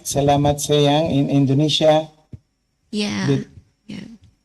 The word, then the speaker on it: selamat siang: Salamat sayang in Indonesia. Yeah. Good. Yeah. Okay. Selamat siang.